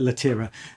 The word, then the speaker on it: Latera: and I guess it might be called pronounced differently in in America but I'm going to call it latia h and it's based on